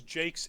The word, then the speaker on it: Jacques: human history cool and Jenna says Jake's is in fact the pronunciation of the author of red wall Thanks cool so I'll take your word for that even if it is spelled jacque's I just clean my